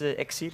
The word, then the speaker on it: Exceed: We can see we have Mitch, Voltage, One Grim, MCE, and Exceed, I think he's pronounced. Yeah. And it's Exceed.